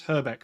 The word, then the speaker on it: Hrbek: No, and did I pronounce Hrbek properly?